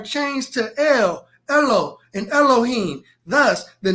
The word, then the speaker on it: Elohim: The A in Elohim right here is silent.